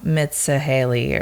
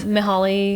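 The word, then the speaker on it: Mihály: Mitsahaley or something. Oh, Mihaly. Mihaly.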